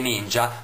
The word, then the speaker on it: ninja: braccio sinistro i tre Ninja migliori dell'impero dei ninja Anzi come lo chiamano in questo film L'impero dei ninja con l'accento sulla a ne prendono un pezzo a